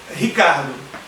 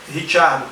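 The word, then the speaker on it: Ricciardo: O nome do Daniel Ricardo pronunciado por ele e pelos australianos é Daniel Ricardo. Tem uns vídeos da Red Bull em que ele pronuncia o próprio nome e você vê ele falando o próprio nome Daniel Ricardo, mas ele aceita que chamem de Daniel Richardo, Daniel Richardo, que seria a pronúncia italiana, que é a pronúncia certa da origem da família dele.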